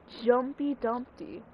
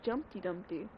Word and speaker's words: Jumpy Dumpty: Jumpy Dumpty. I always thought it was Jumpty Dumpty.